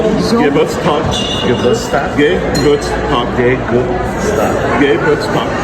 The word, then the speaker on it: zum: How do you say it? Zum Zoom.